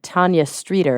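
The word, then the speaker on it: Tanya Streeter: film and there's a a free diver named Tanya streer am I pronouncing her name right absolutely well Champion free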